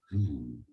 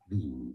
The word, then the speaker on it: Wien: The name of the city in German is said as Wien. Wien. See? This is the English name of old Vienna. Oh, the English version is Vienna, and German it's Wien.